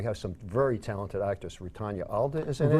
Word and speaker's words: Rutanya: How you pronounce that name? Rutanya. Rutanya Alda.